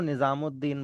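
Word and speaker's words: निज़ामुद्दीन: निजाम करने वाला है उसको निजामुद्दीन बोलते हैं, और वो लिखा निजाम अल दीन जाता है।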